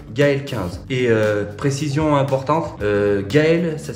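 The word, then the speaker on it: Gaël: avec le code Gael 15 et précision importante Gael ça s'écrit g A E l pas de ZLE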